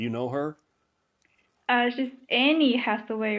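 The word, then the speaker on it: Anne: it an okay yeah even though it has a e at the end they still pronounce it and halfway now if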